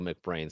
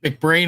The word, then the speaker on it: McBrain: So it's Mac and the brain is pronounced as it is in the English word brain.